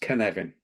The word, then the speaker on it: Cynefin: the pronunciation because it's we so it's it's pronounced canvan oh my my apologies can can well wellsh